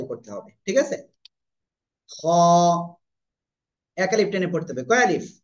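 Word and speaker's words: خ: এই যে অক্ষরটা আছে না এই অক্ষরের মত উচ্চারণ হবে মোটা মোটা আওয়াজে করতে হবে হবে ঠিক আছে খ এক এক আলিফ টেনে পড়তে হবে কয় আলিফ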